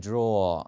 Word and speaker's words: drawer: 첫 번째 철자로 있는 R은 물론 발음을 하지만 중간이나 끝에 있는 R 발음은 빼거든요. 그래서 자, 발음이 이래요. They are storing files in a drawer 이라기보다는 drawer 이렇게 나왔어요.